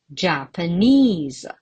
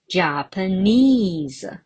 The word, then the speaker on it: Japanese: How many syllables are there? Ja, pa, nis. All right, 3 syllables. And what about the stress mark? Where do I put it? I guess most of you are right. on the third syllable, which is Japanese.